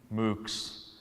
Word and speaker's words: MOOCs: an acronym here, and if you pronounced it, you would hear cows. MOOCs.